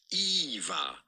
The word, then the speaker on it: Eva: Simply pronounced Eva. Eva. Pretty straightforward. Eva.